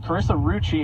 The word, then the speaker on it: Rucci: And standing with us at the table right now is Carissa Rucci, whose last name rhymes with Gucci.